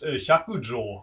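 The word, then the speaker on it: Hyakujō: The main character of the story in Japanese, the name is pronounced Hyakujo. I think in Chinese you say Pai Chang.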